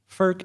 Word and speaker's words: FERC: up after the federal energy regulatory commission or FERC as we call it because we have to pronounce every acronym we have to create turn